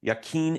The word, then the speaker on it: Yaqeen: And correct me if I don't pronounce this right. Yaqeen Institute, is that how you say it?